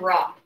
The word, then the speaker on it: Re: I have heard Re pronounced both Re and Ra.